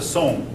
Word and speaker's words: Song: That looks like Song, but I believe it's pronounced Sung. If any of you know any different. Song? Song. Okay, thank you. All right. The Song dynasty.